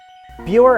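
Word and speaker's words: Buhre: Buer Avenue starts us off. Yes, that's how it's pronounced.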